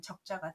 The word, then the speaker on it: 炙: 그런데 구울적으로 쓰게 되면 우리가 흔히 먹는 부침개라고 하는 산적할 때 쓰는 적자가 되겠습니다. 우리가 적이라고도 하죠. 전이라고도 하고 그럴 때 쓰는 적자입니다. 그때는 적이라고 읽고 구울자 할 때는 또 회자할 때는 자로 읽습니다.